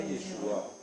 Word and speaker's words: Yeshua: Yeshua, non, c'est pas Yeshua, c'est Yeshua. Yeshua.